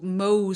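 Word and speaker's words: Mohs: And that's really good and and I want to make a differentiation between so Mo surgery it's spelled M O H apostrophe S and it is the name of a surgeon who developed the Yeah.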